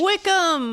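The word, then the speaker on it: Wycombe: Wickham.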